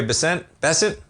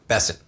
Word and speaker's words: Bessent: So you have Treasury Secretary Bent Besset. Bessent I got to get that one. For some reason the pronunciation expands the Fed chair search.